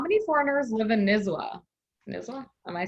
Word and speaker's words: Nizwa: And then I think this is my question actually, but how many foreigners live in Nizwa? Nizwa? Am I saying it right? Oh, you got it, yeah, Nizwa.